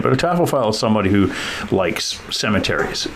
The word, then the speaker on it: taphophile: if you know tuille she is a taffo file or sometimes I call a Taff file but that's not really how you say it but a tofile is somebody who likes